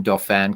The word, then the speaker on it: Dauphin: So I'm in Dauphin County, as the Pennsylvanians incorrectly pronounce it Dauphin County when it's Dauphin.